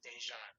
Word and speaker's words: Dejan: first name is uh middle name is dejan so i use that as my artist name